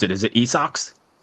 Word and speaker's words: Esox: I definitely want to get into How do you pronounce it? Is it Esox? Esox.